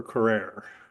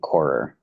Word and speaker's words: Corer: So did anyone else have questions for Carrere? Doesn't look like it, right? Okay, I just wanted to read. Yes. Yeah, just a quick thing on pronunciation. I believe it's Arndt and Corer.